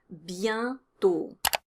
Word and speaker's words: bientôt: There's a nasal vowel in bientôt, and the pronunciation is yen. Bientôt.